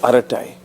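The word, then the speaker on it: Arattai: You are actually pronouncing it exactly. Aratai.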